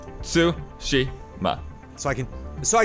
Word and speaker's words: Tsushima: what you're saying is japanese theoretically doesn't have it accents right so that all the syllables are even voice like it's su Shi ma so I can so